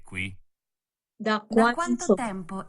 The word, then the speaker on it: qui: And of course, aquí is pronounced like the U doesn't exist, but in Italian you say it qui.